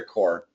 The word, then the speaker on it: corps: military that's right yeah okay forget about P don't see please Jame uh cor